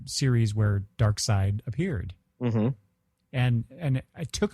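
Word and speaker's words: Darkseid: it does have a legion connection I always pronounced Dark Side dark seed for the longest time until I saw uh the uh the Super Friends u Series where Dark Side appeared and and it took a long time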